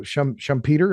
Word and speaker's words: Schumpeter: I assume you follow Schumpeter. Have I got that pronunciation right?